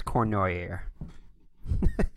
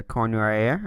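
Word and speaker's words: Cournoyer: All right, looks like it's Cornoyer. It's the best I could get out of the pronunciation I found on the internet.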